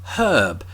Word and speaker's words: herb: stuff is the word herb and as you've heard just there I pronounce it with an H at the beginning because there's an H there that's probably something you